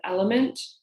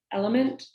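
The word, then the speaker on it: LMNT: um I recommend the brand element it's spelled l m n as in Nancy T element and it's just a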